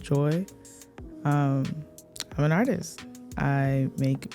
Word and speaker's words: GOI: Hey y'all, I go by G.O.I and it's pronounced Joy.